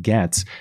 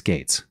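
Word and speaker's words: Gaetz: John comes back and he says Gates is pronounced like Gates. That's, you're right, I have seen that. I don't know why that doesn't stick in my mind, because I've heard too many people pronounce it Gets, and it just kind of looks like Gets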